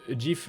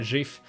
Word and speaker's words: GIF: seul à prononcer ça GIF sans le D, quoi. À la base, GIF, ça veut dire Graphics Interchange Format. Donc c'est logique que ce soit un G et pas un J.